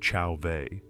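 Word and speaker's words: Chauvet: In Chauveet Cave in France, pronounced Chaveet, there are paintings of extraordinary power and beauty.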